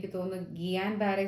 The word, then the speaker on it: Guillain-Barré: I think the pronunciation is GEE-YAN-BARRAY.